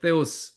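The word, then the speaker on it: θεός: 긍휼할 하나님의 긍휼.요 요요요요요요요요요요요 요거 요거 뻔데기 표시 요게 뭐냐면 데오스라고 하는 헬라어의 데오스 하나님이라는 뜻의 약자입니다. 데오스 예 이게 발음 기호상으로 뜨 뜨잖아요. 뜨 데오스입니다.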